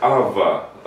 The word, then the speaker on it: Авва: Да, вот сразу видно, человек возрожденный, перерожденный, потому что действительно Дух Святой, Божий Дух, поселяясь в нас, верующих, Он взывает «Авва», «Отче».